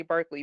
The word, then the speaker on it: Barclay: They say Barkley, but they spell it Barclay.